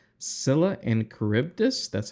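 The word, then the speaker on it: Scylla: the New Frontiers there is a mission called Sila and cibus that's how you pronounce this Sila and caribdis and in this Mission you have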